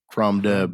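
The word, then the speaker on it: Crom Dubh: It's CROMDUBH, okay, like crumb dove, Crumb. but it's Yeah, pronounced crumb dove.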